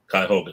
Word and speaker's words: Cuyahoga: Will, how you pronounce that? Cuyahoga? Cuyahoga, yep.